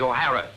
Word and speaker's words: O'Hara: do you remember saying my name is not for horror it is o'hara here mr o'hara yes